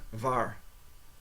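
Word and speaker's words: waar: very close how do you say where uh VAR VAR is where VAR okay so who is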